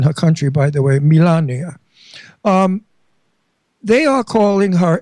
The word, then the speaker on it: Melania: I pronounce it Italian. Melania. That's how her name is pronounced in her country by the way. Melania.